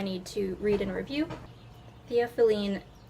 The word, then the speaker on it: Theophylline: The author's note has the pronunciation of the title, so it's Theophylline.